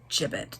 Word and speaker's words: gibbet: chapter 142 gibbet i said give it in the previous chapters i always pronounce that word wrong but it's gibbet g-i-b-b-e-t a fortnight had passed